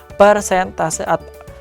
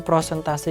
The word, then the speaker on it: persentase: Jadi jawabannya adalah persentase dan bukan yang pasti persentase ya, bukan prentase yaitu yang tepat adalah proporsi ya, bukan persentase gitu.